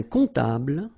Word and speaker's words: comptable: And then, strangely, this P is not pronounced.